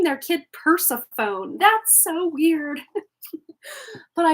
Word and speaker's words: Persephone: of it um and then we have here Persephone with new beginnings and anyone else as a kid used to uh like uh pronounce this as Persephone I used to call